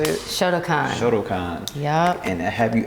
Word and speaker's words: Shotokan: Shotokan.